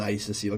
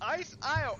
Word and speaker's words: Ice Isle: It's pronounced Ice Isle. I-S-L-E is pronounced Isle. Look. I-S-E is ice. Put it together. It's Ice Isle.